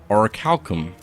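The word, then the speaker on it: Orichalcum: It's pronounced oricalum.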